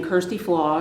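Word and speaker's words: Kjersti Flaa: reporter who in English pronounces her name Kirsty flaw because she says that non-norwegian speakers can't pronounce it the video is titled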